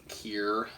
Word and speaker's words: Cyr: It's like pronounced like Kier.